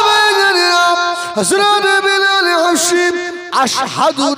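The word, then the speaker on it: أشهد: ও বেলাল, হযরত বেলাল হাশিম আশহাদু না বলে আসহাদু বলে, শিনের উচ্চারণটা সিনের মতো করে।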